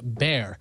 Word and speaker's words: Bexar: what we called it Bexar County is pronounced bear here's a little tidbit